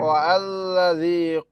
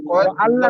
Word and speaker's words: والذي: হ্যাঁ ওয়াল্লাযী কদ্দারা ফাহাদা, এটা আবার বলেন। ওয়াল্লাযী ও আল্লাহ না কদ্দারা ভাই, ও আল্লাহ নাই ফাহাদা, ভাই।